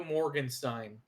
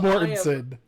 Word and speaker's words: Mortensen: Viggo Morgenstein.